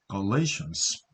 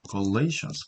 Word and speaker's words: Galatians: good works, 선행, Galatians, Galatians, 발음표가 이렇게 되죠. Galatians, 강세는 뒤에 있습니다.